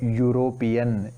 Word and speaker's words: European: then a european here though the word starts with e it is pronounced as yo european yo is consonant here